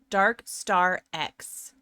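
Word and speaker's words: DarkStarX: I recently found out that your name is actually pronounced Dark Star X, and I felt like a ding dong.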